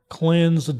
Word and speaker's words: cleanse: Cleans of evil. No, that's how you say it. How to spell it. Cleanse. Okay. Freaking English. Sounds like cleans, but okay. It's cleans.